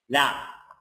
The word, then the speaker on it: laugh: what's the last sound so I rely on the sound not the letter so here what's the last sound F so I cancel the F at d here and I pronounce it so it will be laugh will be will be